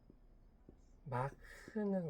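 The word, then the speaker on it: Mach: 그리고 여기서 말하기를 이게 일본어에서 건너온 말인 거 같은데이 발음이 마하 마불. 마크는 원래 독일어로 읽을 때 마크라고 있는데 일본식으로 읽으면 마하라고 읽어서 항공 쪽에선 마하라고 바라는 거 같아요.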